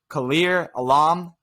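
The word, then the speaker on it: Kaiir Elam: We move to cornerback 4, Khair Elam, I believe is how you say his last name.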